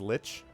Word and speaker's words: lich: Trendane says lich.